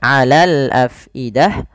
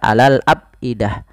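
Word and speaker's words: الأفئدة: tidak masuk k hidung kemudian Alal Afidah Fa alirkan jangan sampai dibaca Alal Abidah ya tapi diaal ada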